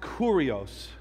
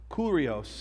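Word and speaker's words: kyrios: this week it's it it's spelled k-y-r-i-o-s pronounce curios curios in the Greek language but it says this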